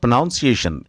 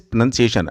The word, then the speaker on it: pronunciation: It is not pronunciation, which many people tend to speak. It is pronunciation, and it would be better if you could drop the R sound.